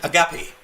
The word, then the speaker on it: Agape: Let me let me let me correct your pronunciation. Agape.